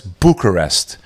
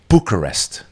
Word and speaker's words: Bucharest: prove it to you the capital of Romania is Bucharest Bucharest that's how you pronounce it in English in Albanian buer means